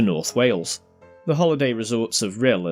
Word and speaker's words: North Wales: We come to North Wales. As you might have figured out by now, this is the Potteries pronunciation for North Wales.